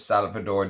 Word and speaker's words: Salvador: This is Salvador by the house of Salvador Dali is how this is pronounced.